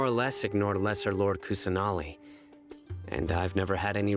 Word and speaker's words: Kusanali: Lord uh cousin Ollie really bless your lord kusunami I keep saying name wrong what you don't believe us let your lord kusanali was definitely using the Akasha to give her